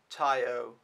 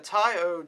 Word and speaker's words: Tai O: tai o or te i think it's pronounced tai o but maybe tayo taiyo t-a-i-o but yeah and that